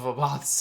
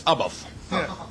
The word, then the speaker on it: Abbath: Abbath, and I love saying it like that because of the great clip of Abbath explaining how to say his name. Oh, it's Abbath. Or in Norwegian, Abbath! Abbath!